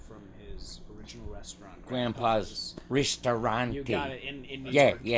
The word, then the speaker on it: ristorante: Grandpa's Ristorante. You got it in New Yeah, York. yeah. Say it right if you're gonna say it. Ristorante.